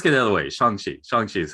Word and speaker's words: Shang-Chi: i mean let's get out of the way shanxi is how it said for the last four years i've been saying shang chi though most people have so have you always said shanxi like even before this whole movie thing or